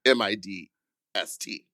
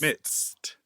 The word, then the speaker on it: midst: m i d m i d t Well, you spell it m i d s t. midst midst But, the d I pronounce like a t.